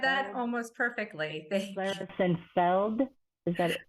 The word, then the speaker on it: Klaristenfeld: that almost perfectly thank Claris Feld is that Feld it's it's It's Tricky it's okay it's uh it looks scary but it's it's pronounced exactly as it's spelled so almost 100% of